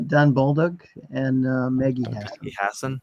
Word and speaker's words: Bolduc: How do you pronounce his name? Baldock? Don Bolduc and Maggie Hassan.